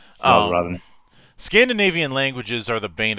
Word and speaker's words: Valravn: I think you pronounced it right. Valravn. Yeah, Valravn.